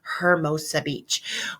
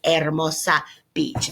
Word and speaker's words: Hermosa: We pronounce it like that in English, don't we? Hermosa Beach. Well, that really means beautiful beach. So the proper pronunciation in Spanish of that town is Hermosa Beach.